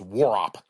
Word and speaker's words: Warhop: W A R H O P, but it's apparently it's pronounced Warop.